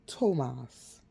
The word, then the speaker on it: Thomas: If you can have an old friend at 23 years of age, Thomas was pronounced Tomas.